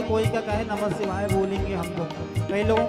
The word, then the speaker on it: नमः शिवाय: नमः शिवाय का एक जो है एक मात्रा का लोप हो जाता है, भगवान का नाम का उच्चारण नहीं, ये दूसरा उच्चारण हो जाता है। इसलिए जल्दी जल्दी के चक्कर में नमः शिवाय मत बोला करो। लगता है ऐसे ही नमः शिवाय जल्दी जल्दी बोलने में, लेकिन शुद्ध उच्चारण होना चाहिए।